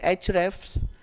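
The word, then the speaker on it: Ahrefs: refs it's a HFS it is pronounced at H refs and hello bar many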